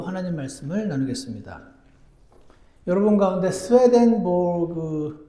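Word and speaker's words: Swedenborg: 말씀을 나누겠습니다 여러분 가운데 스웨덴보그 스웨덴보리 사람의 이름을 들어보신 적이 있으신지 모르겠습니다 정확한 이름은 임마누엘 스웨덴보그 적혀 있던데 스웨덴 사람이어서 아마 그나라 발음으로는 스웨덴 보리라고 부르나 봅니다 1688년 1월 달에 태어난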